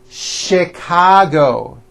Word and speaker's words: Chicago: even more difficult ult there are a couple of words that are spelled with ch and are also pronounced with the sh sound words like chef and the City of Chicago okay having said that